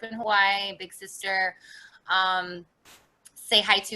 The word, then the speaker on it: Tsehaitu: hawaii big sister um say hi to is how you say my name say hi to i've